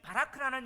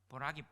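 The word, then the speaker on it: Barack: 자, 이 바라크라는 이름이 히브리 아랍 사람들에게는 많이 쓰여졌어요. 바라크, 복이란 말이에요. 그래서 미국의 44대 트럼프 대통령 전임 대통령이 누구였죠? 오바마 이름이 뭐죠? 보락이 바라크예요.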